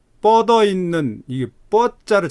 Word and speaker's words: 뻗어: 그 다음에 금방 읽을 때 뻗어 있는, 이게 뻗자를 잘 발음을 못했어요. 뻗어 있는 해보세요. 태백산맥과 예, 소백산맥이 뻗어 있는, 아까도 다른 학생이 좀 잘못 읽었는데 뻗어 있는, 이 경음 된소리로 읽어야 돼요.